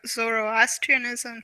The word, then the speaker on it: Zoroastrianism: And, It's and sort of reminds me of Zoroastrianism too. Is that how you Mhm.